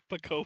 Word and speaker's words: Pokopia: Pokopia.